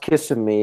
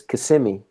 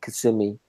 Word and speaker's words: Kissimmee: Yeah, but it's not pronounced Kissimmee. It's Kissimmee.